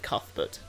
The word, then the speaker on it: Cuthbert: Cathbut is pronounced St. Cathut.